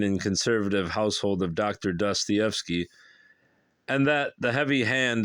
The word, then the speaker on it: Dostoevsky: In the small wing of the Mariinsky Hospital where the Dostoevskys lived, I read that's how it's supposed to be stated, pronounced Dostoevsky, lived with their 7 domestics.